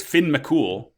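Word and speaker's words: Fionn mac Cumhaill: __ ] he's cool his name is Finn mul but it's spelled f Mack C hail so that's something hell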